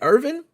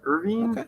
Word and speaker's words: Irvine: September of 2024 the is it Irvin Police Department in California is that Irvine California how do you pronounce that do I think it's Irvine Irvine Irvine I think Irvine okay well we'll go